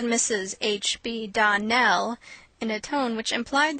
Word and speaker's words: Donnell: you pronounced our name Donal now miss surely the correct pronunciation of our name is Donell Accent on the last syllable I hope you remember